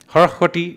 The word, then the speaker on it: Harahwati: the Saraswati becomes the Harahwati. Incidentally, this is exactly how it's pronounced even today. Harahwati is Assamese.